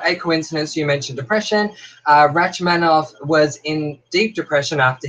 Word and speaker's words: Rachmaninoff: Kim says it's pronounced Rachmaninoff. Oh, Rachmaninoff.